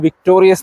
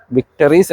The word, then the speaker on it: Victoris: VXi വീഡിയോയിൽ, ഞങ്ങൾ അതിനെ ' വിക്ടോറിയസ്' എന്നാണ് ഉച്ചരിച്ചത്. എനിക്ക് തോന്നുന്നത് യഥാർത്ഥ ഉച്ചാരണം 'വിക്റ്റസ്' എന്നാണ്.